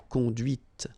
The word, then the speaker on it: conduite: And that's when you hear the difference between conduit, because remember, final T is not pronounced, conduit here, and then the feminine, conduite. Okay, so here you can listen to this t, t, okay? Conduite, all right?